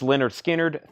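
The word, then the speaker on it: Lynyrd Skynyrd: 29.99 for Beth Hart pronounced Leonard Skynyrd 36.99 Brett Michaels a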